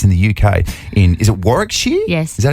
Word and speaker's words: Warwickshire: Is it Warwickshire?